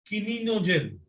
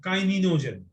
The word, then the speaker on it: kininogen: Next one is high molecular weight, kininogen or kininogen. Both the pronunciations are in use.